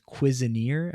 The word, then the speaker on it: Cuisineer: saw a game called Cuisineer. I think is how you say it. I don't know. Nobody. It's like Okay. cuisine and then an extra er.